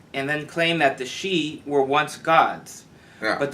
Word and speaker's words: Sidhe: pronounced she, yeah.